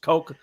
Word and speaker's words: Koch: T in there but no k-o-c-h Coke like the drink very cool very cool